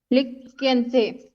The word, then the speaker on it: लिख्यन्ते: हाँ छात्रैः पुस्तकानि लिख्यन्ते। क नहीं बोलना है, ख बोलना है।